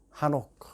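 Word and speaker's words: חנוך: 해석해 보십시다 마 예히 하녹 우리가 녹이라고 보통 그 발음하지 한옥이 발음이 이제 목 목구멍에서 나기 때문에 아 우리가 뭐 에녹 이렇게 들릴 수 있는 거예요 근데 그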